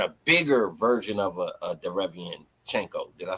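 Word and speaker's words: Derevyanchenko: But this a younger version and a bigger version of a Derevianchenko. Did I say it right? Yeah. Okay. Yeah, Derevianchenko.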